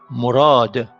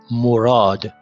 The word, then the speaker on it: Murad: Murad. M, O, R, A, D. Okay, me connector, connective, R non-connective, non-connective, non-connective, and that is pronounced O. Murad.